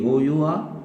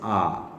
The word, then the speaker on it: our: and that will be O-U-R. This should be pronounced as R. R, not our, R.